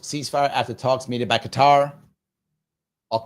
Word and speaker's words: Qatar: proposed ceasefire after talks mediated by Qatar. Or Qatar, sorry, Qatar. I should pronounce it effectively so they're not mad at me.